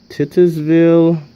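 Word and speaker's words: Titusville: Huntington okay too here's one that starts at titters ville that's how you pronounce it Oil City franklin grove city and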